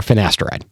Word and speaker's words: finasteride: All right, the next one is finasteride or finasteride. Oh, shoot. That's what it is. Finasteride like it's spelled.